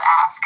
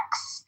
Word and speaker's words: ask: The word is ask. It's ASK. Oh. Pronunciation is not ax.